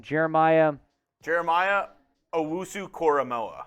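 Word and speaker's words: Owusu-Koramoah: and ajoku uh do you know how to pronounce that next name Jeremiah Jeremiah Owusu koramoa koramoa that's right cormo Jeremiah OSU koramoa did not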